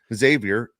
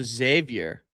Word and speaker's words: Xavier: Okay, how do you pronounce an X then? As a Z. As a Z. Oh, it's Xavier. Xavier.